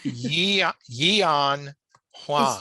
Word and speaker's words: Yi-An Huang: It's Yi-An Huang. Is it two syllables? Because I've heard people say Yan. A lot of people just say Yan.